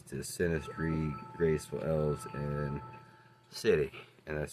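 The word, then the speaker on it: Sidhe: From mischievous imps and sprites to fluttering pixies to malicious goblins to sinistry, graceful elves and city, and that's spelled S-I-D-H-E.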